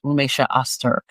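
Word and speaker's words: Rümeysa Öztürk: Um her name is Romesha Auster and Romesha. So that's how you pronounce it.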